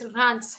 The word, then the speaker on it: Reims: city in France and it's pronounced as Reims, because इसमें R है और S को pronounce भी करना है, तो people are always confused कि क्या बोलें इसको, ठीक है? So it's not Reims, it's Reims.